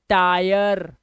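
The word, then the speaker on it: tyre: rule number 26 क्या कह रहा है, कह रहा है जब किसी वर्ड में आई के बाद RE आ जाए तो इसका उच्चारण हो जाएगा आय, क्या हो जाता है,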